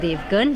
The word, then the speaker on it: Devgan: It's Devgan. You'll find it very easily. Devgan, how do you spell it? D-E-V. Yes. Devgan. So it's not GUN. Yeah. It's GAN.